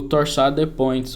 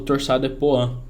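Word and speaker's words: torsades de pointes: ataque Cardia ventricular polimórfica o torado points o torado poan beleza pronúncia vai da escolha do freguês e eu tenho que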